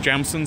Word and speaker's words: Jameson: oh yeah Json which they all called jamson cuz I guess that's how you pronounce it in the local dialect well I don't know